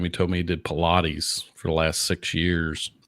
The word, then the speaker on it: Pilates: do you say that but pilatti easing that's not that is not correct at all so Well Pilates is what got the